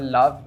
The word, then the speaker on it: Loev: It's called Love, but it's spelled Loev.